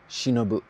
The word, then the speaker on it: 忍: Alone, it's pronounced shinobu.